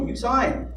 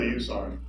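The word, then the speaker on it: Usan: I'm Circuit Court Judge Usain. It's not the easiest name to pronounce, but I like to think it's easy enough to remember. It's USA with an N on the end, so easy to remember.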